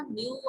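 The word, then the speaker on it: know: so no क्या आ जाएगा, न्यू आ जाएगा। फर्स्ट में नो लिख लो, सेकंड में न्यू लिख लो, K is silent।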